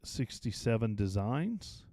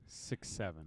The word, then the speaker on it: 6.7 Designs: And another along that same line is the 67 Designs. 6.7. 6.7. It's not 6.7. It's not 67. I don't believe it's 67. Not 6/7. It's 6. I don't believe it's pronounced as 67. It's pronounced 6.7 Designs.